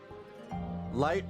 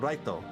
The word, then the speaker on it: Light: Light is supposed to be pronounced as light. But in Japan, they keep calling him Reto. So everybody thinks, you know, he's actually called Reto, but no, he's light.